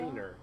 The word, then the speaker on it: Rainer: Rainer, yeah, like rain.